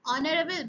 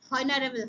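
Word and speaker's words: honourable: একজন সম্মানীয় ব্যক্তি অ্যান অনারেবল ম্যান, এখানে কিন্তু প্রণাম, এখানে উচ্চারণটা কি হবে না? হনারেবল হবে না।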